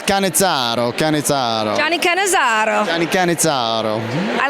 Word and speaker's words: Cannizzaro: Everybody says Cannizzaro, but you gotta. It's Cannizzaro.